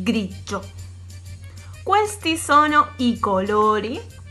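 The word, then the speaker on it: grigio: Y el color gris, que se dice grillo. Grillo. ¿Sí? Como teníamos el giallo, tenemos el yo. ¿Sí? G-I-O es yo. Grillo.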